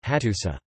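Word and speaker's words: Hattusa: The uru is a determiner marking the name of a city, and the pronunciation is simply, hatusa.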